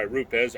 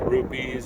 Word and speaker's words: Rupes: market they call it a Bigfoot made by route des RUP es to be confused rubies or roots but the proper terminology or pronouncing up the company so here we go